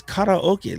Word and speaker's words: karaoke: It's karaoke, like karate.